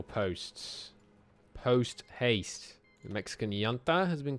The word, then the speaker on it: junta: The Mexican junta has been called against us. Well, that's not ideal. We could respond by banning fascism. Yanta, apparently, is more close to how that's pronounced.